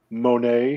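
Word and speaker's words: Moné: Yeah, I think it's supposed to be pronounced Monet with the idea that it sounds like money, but Okay.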